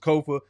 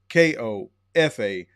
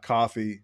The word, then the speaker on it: Kofa: I am your humble host, Kofa, K-O-F-A, not coffee, not kufu, not Kofi, or any variation thereof. Kofa rhymes with sofa, easy to say, easy to spell.